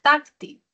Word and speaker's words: táctil: La primera de ellas es táctil. Táctil. A ver, ¿cómo será? ¿Táctil o táctil? Comunicación táctil, comunicación táctil. La comunicación es táctil. ¿Ya? El acento prosódico está en la penúltima sílaba, es grave.